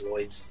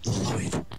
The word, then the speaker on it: Lloyd: It's a weird name because of the way it's spelled. Like, what the hell? Why is it spelled with two L's? That just doesn't correlate to me. Lloyd. Like, everything else in the word is, like, completely fine, but there's two L's at the beginning. Why is it not pronounced Yoid, you know?